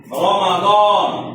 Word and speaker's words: রমাদন: রমাদন বিদেশি শব্দ, বিদেশে যেভাবে উচ্চারণ করে সেভাবে বলতে হবে। রমাদন।